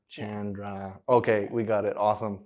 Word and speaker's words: Chandra: we are going to confirm it is Chandra, right? Yeah, you bet. And I like to say it like it's like Jackie Chan, you know. Jackie Chan, Chandra.